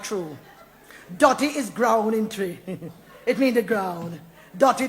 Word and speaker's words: Twi: name yeah man it spelled twi but it pronounced tree i want good language